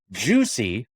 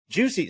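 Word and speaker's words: Jucie: fit there you go juicy and i i'm pronouncing that with in my very colorado english dialect juicy j-u-c-i-e by the way when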